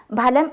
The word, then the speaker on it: ഫലം: എന്നാൽ loan words coffee എന്ന് ഉപയോഗിക്കുമ്പോഴും ഫലം എന്നത് ഫലം എന്നല്ല, ഫലം എന്ന് തന്നെ ഉച്ചരിക്കണം. അതാണ് അതിൻ്റെ ശരി.